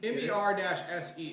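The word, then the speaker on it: Mersea: Well, it's for like mermaid, merman, So merman, Mercy, but also Mercy. MER-SEA.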